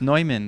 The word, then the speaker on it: Neumann: It's Neumann.